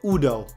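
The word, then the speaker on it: Udoh: Oh man, I already know I pronounced that wrong, but Udo. I'm pretty sure it's Udo.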